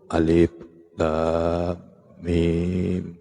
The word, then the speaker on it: Alif Lam Mim: digabung menjadi satu kalimat jadi bacanya bukan a'lamu atau almun atau alaimun tetapi dibaca adalah huruf perhuruf alif l amin jika yang dibaca itu